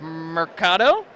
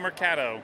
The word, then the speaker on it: Mercato: we're gonna look at is Mercato you said it right it's not more cat oh okay and this is